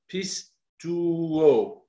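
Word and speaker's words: πιστεύω: Je suis allé creuser ce mot « crois au Seigneur Jésus » qui en grec, c'est prononcé « pistouo ».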